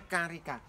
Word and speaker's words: carica: Karika ini ya Iya bacanya memang Karika ya tulisannya carica bacanya Karika Nah ini apa saja